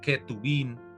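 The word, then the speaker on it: כתובים: Entonces, algunos han atrevido a decir que es Ketubín, pero es muy forzado porque la verdad la J se pronuncia como K de kilo. Entonces sería Ketubín es lo correcto y también lo escriben Ketubín.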